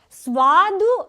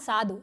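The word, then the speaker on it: स्वादु: Swadu anam swadam. Swadu tasty tasty swadu. So tasty. Not sadu. Suad.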